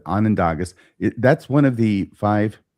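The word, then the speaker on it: Onondaga: Would you pronounce this? It's Anandaga or Anandagas is Anandog and for the people. Okay. So, I'll try and pronounce it correctly. Anandagas.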